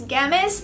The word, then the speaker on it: Gamiss: channel for today's video I have a gamus I believe that's how you pronounce this website's name it's g a m i SS so it's gamus and I found this